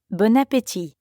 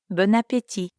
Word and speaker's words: Bon appétit: And notice that you don't pronounce the T at the end of appétit. Ti. Bon appétit.